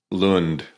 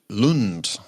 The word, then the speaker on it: Lund: but I don't think we had anybody from pronounce the name of the town again Lund Lund and here we are 10th of January so